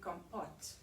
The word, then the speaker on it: compote: forest cake is a is the black cherry compote so i had to google that word because